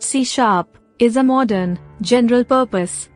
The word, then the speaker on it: C#: Microsoft C Basics Microsoft C pronounced C is a modern general purpose objectoriented programming language